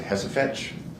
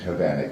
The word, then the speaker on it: Hovanek: was done by Mr., is it Hesefetch? Am I killing his last name? Who? We heard from him last week. Detective Hovanek. Hovanek, I'm just, pronunciation, tell us. You say Hesefetch, I say Hovanek, same difference.